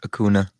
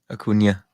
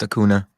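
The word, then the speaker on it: Acuña: what was it right he mispronounced akuna akunya he's pronounced hacuna okay i'll tell you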